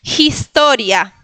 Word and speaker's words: historia: Historia. Historia. J, lo mismo, puse el acento en la segunda sílaba, historia.